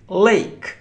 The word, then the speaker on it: lake: Look, lake, lake. The second important rule is that we don't pronounce E in the end. No, we don't pronounce it.